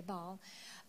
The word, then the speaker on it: Baal: Baal, you gotta pronounce it Baal here. Okay, Baal.